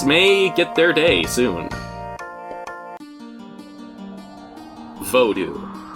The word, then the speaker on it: Vodou: Vodou. Often pronounced voodoo, this is a religion that's been very misrepresented, almost to a stereotypical extent.